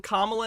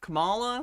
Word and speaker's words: Kamala: at least they F finally taught him how to say her name closer to right he's saying Kamala now instead of Cala so that's good president